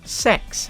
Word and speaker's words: CeX: going to get one from CeX or sex as it's pronounced and the whole reason